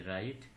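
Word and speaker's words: wrong: যেমন ডাব্লিউ আর আই টি E, right, এখানে ডাব্লিউ এর পরে আর হওয়ার কারণে ডাব্লিউ এর উচ্চারণ হয়নি। রং মানে ভুল, হু মানে কে, রেসলিং মানে কুস্তি।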